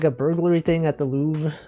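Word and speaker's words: Louvre: You see that someone like uh there was like a burglary thing at the Louv L. You pronounce that lur.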